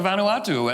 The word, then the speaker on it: Vanuatu: The island of, I'm not going to pronounce it. It's Vanuatu.